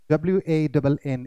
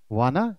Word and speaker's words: wanna: तो for example आप यहां पे देखो, wanna, WANNA, इट्स नॉट wanna, इट्स wanna।